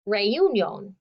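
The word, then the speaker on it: reunión: invited to a reunion which dad pronounces ray ummul it sounds like what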